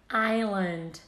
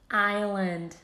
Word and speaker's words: island: walk walk number four balm bomb number five island island this is how we actually read them isn't